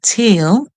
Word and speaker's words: tail: A tail, this word, tail, the E at the end is silent. The A makes a long sound. That's why it calls its own name, tail.